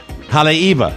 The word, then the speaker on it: Haleiwa: But I know there's no V. It should be Haleiwa. That's not how they send it. The W's are pronounced in Hawaii.